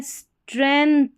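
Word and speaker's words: strength: जी का एक तरीके से यहां पर साउंड नहीं आ रहा है।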